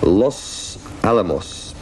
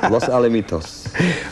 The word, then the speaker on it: Los Alamitos: Paul in Los Alamos. What's that? Alamitos. Well, that's his writing. That's not my pronunciation. Los Alamitos.